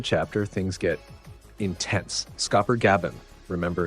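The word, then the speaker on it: Gaban: Scopper Gabon, remember it's pronounced Gabun, tells Luffy that the Holy Knights are not invincible.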